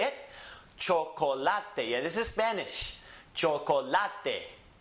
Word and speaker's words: chocolate: Chocolate. Yeah, this is Spanish. Chocolate. Because it ends with a vowel, it's the next to last syllable that's emphasized.